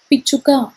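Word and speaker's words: పిచ్చుక: you to easily understand the telugu word and pronounce it in a correct manner sparrow is known as picchuka p-i-c-h-h-u-k-a picture parrot in telugu has two names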